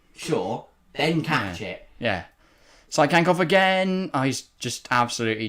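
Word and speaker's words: Tsygankov: By the way, it is Sykankov, not Tyskankov. Sykankov. Yeah. Okay. It's just like Sonoda. So you don't pronounce the T.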